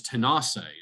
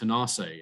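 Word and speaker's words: Tanasi: this place called and uh the word was tenaci it's pronounced tenaci in cherokee but what i find remarkable is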